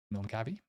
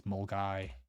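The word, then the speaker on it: Milngavie: There's an E at the end. Mulgavi? It's Mulgai. Mulgai.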